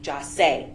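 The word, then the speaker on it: Jahseh: The plans that were hatched by these co-defendants to rob and kill Jase, his name is pronounced Jase, Onfroy, was hatched in hell, and the witnesses are who they are.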